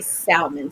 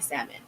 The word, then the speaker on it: salmon: conversation today about uh words that have silent letters in it and i'm making a conscious effort to debunk the silent letters and words um i'm gonna work on trying to say salmon so i'm gonna work on that one instead of saying salmon um but so about